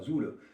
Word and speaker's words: Zole: Et la Zoule, Zoule, et ça se prononce comme ça, Zoule.